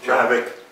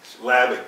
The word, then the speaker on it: Hlavac: Lavick. Lavick. Just Lavick? Yeah, don't fight the H. Because there's an H in there somewhere, right? Yep. It starts with an H, but you don't pronounce it.